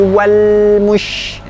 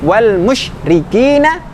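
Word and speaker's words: والمشركين: Min ahlil kitabi wal mush. Wal mush. Mush juga tidak. Wal musyrikina, tetapi tetap disempurnakan dulu makhrajnya.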